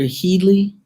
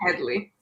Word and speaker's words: Hedley: going back and forth is it dr healy because i want to pronounce your name properly dr hedley hedley okay i thought i was